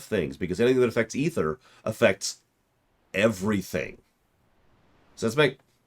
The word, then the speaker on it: Aether: In my mind, that should be pronounced Aether. But they say it in-game as ether, so occasionally I'll correct myself, and occasionally I won't.